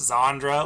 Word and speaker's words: Zandra: Because they pronounce this is Zandra, like with a Z.